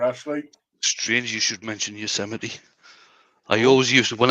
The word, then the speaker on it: Yosemite: strange you should mention yosemite i always use it when i was a kid i always used to pronounce that you was a mate yeah the the thing